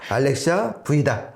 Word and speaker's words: Alexia V: 그러니까 이거를 5라고 읽으시면 안 되고요. 저는 처음에 5라고 읽었어요. 네, 저도 처음에 그렇게 알았죠. 네. 알렉시아 V다. 네. 그러니까 V 버전의 알렉시아다.